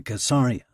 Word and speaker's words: Caesarea: Every Israeli boy grows up pretending he belongs to Caesarea, which they all know is pronounced with a hard C.